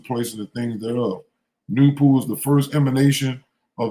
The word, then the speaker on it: Noopooh: The name NAY-TOO is spelled Noopooh and pronounced NAY-TOO. The H is silent and capitalized.